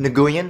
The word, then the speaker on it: Nguyen: So Jack Nguyen, it's Jack Nguyen, you mean Nguyen, it's pronounced Nguyen, clearly says Nguyen!